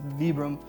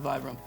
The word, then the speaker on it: Vibram: And actually pronounce that wrong. It's Vibram, but everybody calls it Vibram.